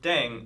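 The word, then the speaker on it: 땡: playing with language now the pronunciation of Deng is similar to Thang which is the thing in English yeah last but not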